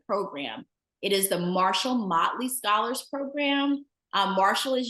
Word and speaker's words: Motley: is usually pretty easy mle is the one that hangs some people up and so um make sure that you know that it's Motley as opposed to moley or any other pronunciation it's the Marshall mle